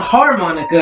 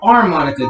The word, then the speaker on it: armonica: It's not harmonica, it's harmonica. Basically, it's spelled the same way without the H.